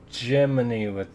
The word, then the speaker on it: Gemini: Oh, it's Gemini which actually looks more like it's spelled like Gemini, but it's like this, like the birth month thing instead.